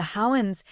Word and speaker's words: Houyhnhnms: Gulliver arrives in a land ruled by horses, the Houyhnhnms, pronounced almost like a whinny, calm and rational and